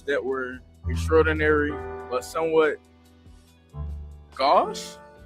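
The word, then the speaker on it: gauche: I would think it would be go, but they say it's gosh, right?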